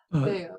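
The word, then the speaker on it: θεός: Theos.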